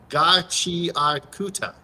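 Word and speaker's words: Gachiakuta: ga, chi, kuta.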